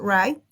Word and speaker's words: wright: dos vocales juntas entonces en el caso de wright si miren como pronunciamos right la w es muda en el caso de